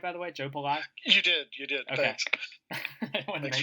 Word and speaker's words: Joe Pallai: Did I pronounce the name right, by the way? Joe Pallai?